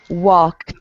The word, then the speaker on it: walked: Okay, so you're going to say the verb and then it sounds like a T at the end. Okay, so that should be talked, walked.